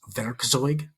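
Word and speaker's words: Werkzeug: Do you ever use veroig? Definitely not. It's spelled we e r k ze u g.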